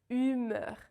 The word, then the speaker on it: humeur: The correct pronunciation is humeur. Let's break this down. So when you have the letter H in French, it's always silent.